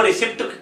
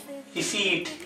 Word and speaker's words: receipt: ये प्रोनाउंसिएशन में रिसिप्ट नहीं बोला जाएगा, इसकी प्रोनाउंसिएशन हम रॉन्ग करते हैं। इसको इंग्लिश में राइट प्रोनाउंसिएशन में कैसे लेते हैं, इसको सही प्रोनाउंस कैसे करते हैं? रिसीट Receipt. या रिसीट।